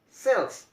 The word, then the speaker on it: sells: And the second word, that's the sells, sells, not sh really, right? In the second word, it's pronounced like only the s, sells, very smoothly, sells.